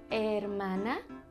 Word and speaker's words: hermana: Una hermana? Brother and sister in Spanish is hermano y hermana. It starts with an H, but you don't really pronounce the H.